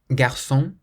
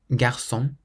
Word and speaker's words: garçon: Whenever you see the letter C with a cedilla, that little squiggle underneath it, you always pronounce it like an S, so a S sound. For example, ça. Ça means that. Ça. Garçon.